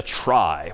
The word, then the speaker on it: trie: that's known as a try which is somehow short for retrieval even though that's pronounced somewhat differently but try just means